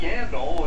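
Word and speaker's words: Yandle: We saw it a couple of times last night at Yandel, and it's perfect because his name rhymes with handle, and he was having all kinds of trouble handling the puck here tonight.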